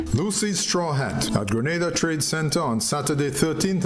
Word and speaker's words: Grenada: So today, like we German say, we are in Granada. But I heard in English it's called Grenada.